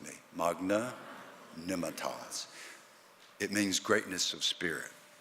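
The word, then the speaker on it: magnanimitas: that fabulous location there's a Latin word 12 letters five syllables one word Magna Nemeth oz say it with me Magna Nimet Oz it means greatness of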